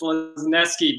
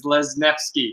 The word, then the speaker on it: Lesniewski: It's Lesniewski, but the Polish pronunciation is Lesniewski, but don't worry.